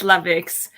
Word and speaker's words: La Vix: And do I even pronounce it correctly? I say Lavix. Yeah, it's Lavix.